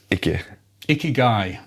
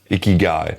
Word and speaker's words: ikigai: It's Ikigai. Ikigai.